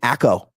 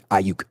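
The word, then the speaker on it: Aiyuk: I mean, the DB coach for the Chiefs couldn't even pronounce his name, called him Brandon Acko.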